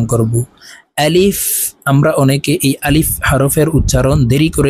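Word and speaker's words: ألف: করি টেনে উচ্চারণ করি আলিফ এভাবে টেনে উচ্চারণ করে থাকি প্রিয় দর্শক এভাবে যদি টেনে উচ্চারণ করি তাহলে আলিফের উচ্চারণ সহি ভাবে হবে না আলিফের উচ্চারণ তাড়াতাড়ি করে পড়তে হবে আলিফ আপনারা আমার সঙ্গে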